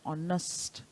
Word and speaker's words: honest: it as on must therefore this H becomes silent children in ISA we